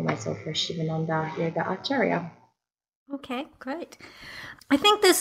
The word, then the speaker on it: acharya: Yeah, acharya.